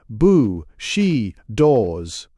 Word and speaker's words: bushido: without understanding feudalism and bushido now one, the moral ideas of present Japan are a sealed volume. Footnote one pronounced bu she doors.